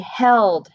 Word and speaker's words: held: They held hands. So hold with the O and with the E, it's held, held hands. Now, don't forget when you're saying that, you're pronouncing that D at the end.